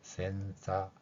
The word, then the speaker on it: senza: 이 후드가 없는 상태, 후드 없는 상태를 이제 이탈리아에서는 센사, 이게 영어하고 다르게 이탈리아에서는 이 즈 발음이 우리말의 쌍지읒에 좀 가까운 자 이런 소리로 들리는 것을 볼 수 있습니다.